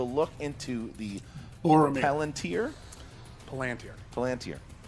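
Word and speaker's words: Palantír: Palantir. 2 points. I'm literally only here to correct his pronunciation.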